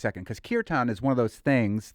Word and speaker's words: kirtan: What's your perspective on folks that are taking on kirtan or even yoga, I guess, as their own? First of all, kirtan. So the A is like a sound. Kirtan.